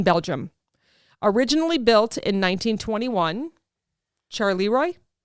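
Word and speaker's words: Charleroi: fast food murders you're going to make me pronounce this this is a power plant in Belgium originally built in 1921 charoy c h a r l e r o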